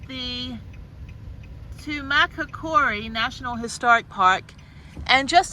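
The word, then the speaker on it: Tumacácori: little town okay I made it to the tumaca Cori National Historical Park that's how to pronounce it so just let you know that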